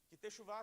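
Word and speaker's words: תשובה: Mas então a palavra em hebraico eh se escreve texuv, se fala texuvchá significa literalmente retorno, né?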